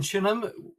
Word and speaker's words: Chineham: Uh we're in Chinham, as we pronounce it, which is a suburb of Basing Stoke.